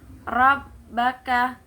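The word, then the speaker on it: رَبَّكَ: Nah, selanjutnya rabbaka, ro-nya itu tafkhim, yaitu tebal. Huruf ro-nya tafkhim.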